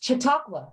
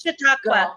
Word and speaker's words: Chautauqua: I hope that's right, because Spanish is my second language, but you're super close, and that's an indigenous word, and it's Chautauqua, but you're super close. Chautauqua.